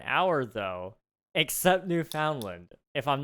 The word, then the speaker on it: Newfoundland: Newfoundland. Pronounce it like that and you're good. But it's found. It's not just found. Newfoundland? More like Newfoundland. That's an interesting one. I'm sorry, it's found though. It's Newfoundland. I dropped the D on